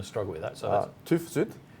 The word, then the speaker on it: TÜV SÜD: So TÜV SÜD. TÜV SÜD.